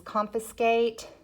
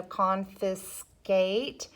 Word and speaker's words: confiscate: your word list is confiscate so that has a vowel consonant silent e pattern so confiscate so you have your long a sound your tea and your e is silent and that E is what's allowing that a to say its name okay um and then we